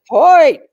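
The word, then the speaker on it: Hoecht: How do you pronounce that? It's like Hoy.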